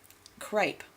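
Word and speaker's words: crape: from was a fabric called crepe pronounced the same way as the material crepe but spelled c-r-a-p-e as opposed to the alice other spelling of c-r-e-p-e the a to signify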